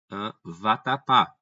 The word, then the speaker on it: vatapá: Por exemplo, se eu digo vatapá. Vatapá tem como a tonicidade na última sílaba e terminou em A, logo o pessoal vai ser o quê?